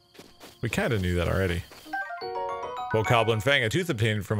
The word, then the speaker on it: Bokoblin: Bokoblin.